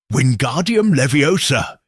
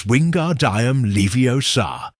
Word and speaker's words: Wingardium Leviosa: Wingardium Leviosa, he shouted, waving his long arms like a windmill. You're saying it wrong. Harry heard Hermione snap. It's Wingard Diam Leiosa. Make the gar nice and long.